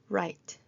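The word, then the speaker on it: write: 소리가 나지 않는 W도 있습니다. right, wrong 인 경우에 글 쓰다, 틀린 이라고 했을 때 앞에 W 소리가 나지 않습니다. right, wrong이 아니고 right, wrong 이렇게 소리가 나면서 W가 발음이 나지 않는 경우입니다.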